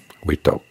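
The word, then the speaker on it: วิตก: The Thai word for directed thought, witok, rhymes with the word for lift, yok.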